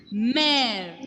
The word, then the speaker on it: mère: And along with the letter E, when laxo grave will come, pronunciation will be A, as in English alphabet letter A. A pronunciation. Exemple en français. Mère.